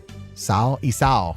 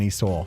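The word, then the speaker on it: isaw: It's pronounced Isao rather than Esau.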